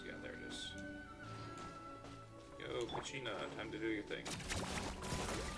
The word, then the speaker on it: Kachina: Yo, Kachina, time to do your thing. What did I call her, Kachina? It's Kachina, not Kochina.